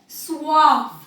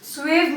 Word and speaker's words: suave: पहला वर्ड है सुआव. सुआव, be careful, स्वेव मत बोलिएगा, सुआव बोलिएगा. एंड the other word is chic.